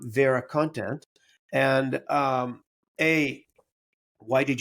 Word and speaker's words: VeraContent: some slightly different pronunciations Americans like to say ver actually I was impressed with your correct pronunciation of our name so thanks for Vera content is how we say it um so why did